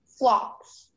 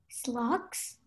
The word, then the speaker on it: phlox: Your word is flocks. Can you please repeat that? Flocks. Slocks? Flocks. Slocks. Sorry, wait, I don't think you're saying it correctly. Flocks. Slocks? Flocks. No. Flocks. Flocks, okay. Can I have the definition, please?